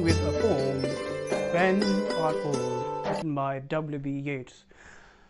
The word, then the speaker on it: Yeats: a poem by wb yates pronounced as yates not eats okay well let's first